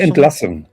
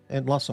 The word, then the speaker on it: Entlassung: How'd you pronounce that? Die Die Entlassung? Entlassung, Entlassung.